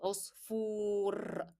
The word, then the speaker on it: عصفور: F is carrying dhamma and then followed by waw. What does this remind you of? It is the long vowel waw. So it will be said or pronounced with a lengthened sound of waw.